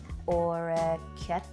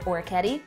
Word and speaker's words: orecchiette: She uses orecchiette, or in Jersey, we'd probably just pronounce it orecchietti.